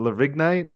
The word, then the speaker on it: Lavigne: With a silent G. I just pronounced it like Avril Lavigne. That's what I did too. And I was reading it. I was thinking Lavigne.